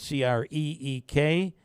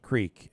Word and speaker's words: creek: all party on Creek Road it's actually spelled c-r-e-e-k and it should be pronounced Creek menaski is right it's it is and always